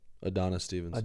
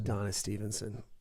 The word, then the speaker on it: Adonis Stevenson: here and wait okay say it adana stevenson adonis stevenson that's right and he killed me